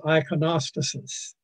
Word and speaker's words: iconostasis: The word is iconostasis. I know it sounds like something that Ogden Nash would have come up with. Ogden Nash said the rhinoceros is preposterous, and this is the iconostasis, which is a sanctuary